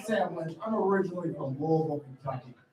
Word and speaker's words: Louisville: I'm originally from Louisville, Kentucky. And you gotta really swallow that, Louisville. If you were to look at a map, you'd be like, Sam, that's spelled Louisville.